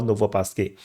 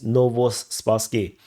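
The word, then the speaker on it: Novospaske: direction into Petrivka or Novopasky. Novospassky. Sorry, I actually pronounced this wrong. It's Novospassky. Spastic SL.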